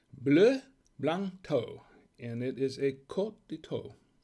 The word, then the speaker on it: Bleu Blanc Thau: once again this is what we're drinking it's pronounced blue blanto and it is a cotito from france so